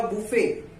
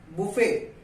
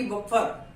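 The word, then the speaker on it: buffet: बुफे, नॉट की बफर। लेकिन हमारे हिंदुस्तान के लोग ठहरे तो वो क्या करते हैं कि यहाँ पे बुफे में टी का तो कोई उच्चारण ही नहीं हो रहा है, तो उन्होंने क्या किया,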